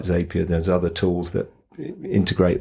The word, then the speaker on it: Zapier: I heard Zapier makes you happier, so I don't know if I'm pronouncing it wrong, because I thought it was a zap, like an app, but maybe it is Zapier.